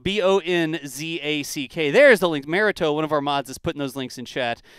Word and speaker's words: Bohnsack: I've got Bohnsack, Bohnzack. And phonetically spelled Bohnzack.